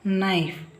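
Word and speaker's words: knife: P silent cupboard ಕಪಾಟು ಇಲ್ಲಿ K silent ನೈಫ್ ನೈಫ್ ನೈಫ್ ಅಲ್ಲ ನೈಫ್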